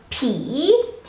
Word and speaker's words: ผี: a high class consonant so when you pronounce the word ghost or p it has to be rising so p p while